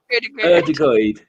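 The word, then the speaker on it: Ødegaard: Odegaard.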